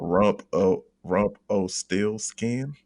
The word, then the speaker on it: Rumpelstiltskin: that's my answer, but I have to pronounce it like Parliament does on the Motor Booty Affair. There's a song called Rump O Still Skin. So it's like a metal song. But Rumpelstiltskin.